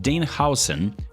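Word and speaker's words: Dean Huijsen: Well, let's start with the free ones, because you're gonna be receiving a free pack of Dean Howson, by the way, that's how you pronounce his name, Kevin De Bruyne, and Marcus Rashford.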